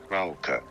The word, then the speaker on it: Frauke: So in English, you can easily say it as Frauke.